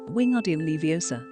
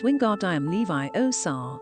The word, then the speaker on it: Wingardium Leviosa: her my knee snap it's wingard i am levi oh sar make the gar nice and long you did it then